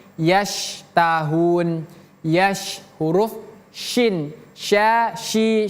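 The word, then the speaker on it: يَشْتَهُونَ: Ini huruf syin. Jadi bukan sin. Jangan kita baca yastahun tapi yasahun.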